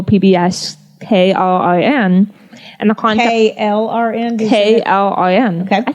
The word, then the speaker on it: KLRN: KLRN?